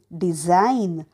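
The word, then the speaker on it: design: आहे के पुढचं बघूयात डी ई एस आय जी एन डिझाईन म्हणजे रचना आणि silent letter G next S आय जी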